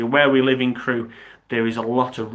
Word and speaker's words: Crewe: Crewe. How do you spell it so I can start planning? It's Crewe.